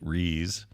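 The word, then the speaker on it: Rhys: late March was about the pronunciation of the name rise or phonetically re when Matthew re came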